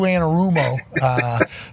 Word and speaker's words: Anarumo: The sound was there. The amount of syllables were there. You got to coach Lou Anarumo. Paisano. Okay. I didn't accent it enough. All right. I'll work on my Italian.